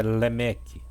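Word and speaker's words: לֶמֶךְ: Lameque, que em hebraico é Lemeque.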